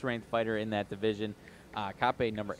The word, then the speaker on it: Kape: Mokaev versus Kape, I believe it is. Cape, I don't know, honestly. No, it's Kape.